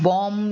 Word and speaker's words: bomb: See where the B is silent. So you have bomb, you have climb, you have comb.